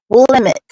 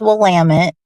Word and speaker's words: Willamette: We got Willamette, right? People say Willamette. No, it's Willamette.